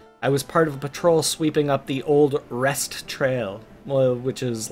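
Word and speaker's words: Rhest: I was part of a patrol sweeping up the old Rest Trail," which is, like, Lespin Trail.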